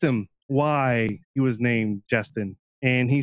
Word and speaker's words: Jestin: And she's like, "It's Jestin, but it's spelled Jestin, like Jesus, Jesus.